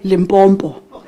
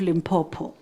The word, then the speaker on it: Limpopo: accent and I and I was tempted to say Limbbo adding an M where there is no M. After this partnership with UL, I now pronounce the name correctly. It's the University of Limpopo. There's no aim.